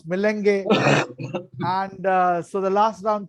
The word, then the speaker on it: melange: The MC Kejriwal Vidyapit organized this school as a melange, or as I pronounce, melenge.